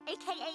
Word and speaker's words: AKA: Initialisms are abbreviations consisting of the initial letters of a word group, and we pronounce these letters separately.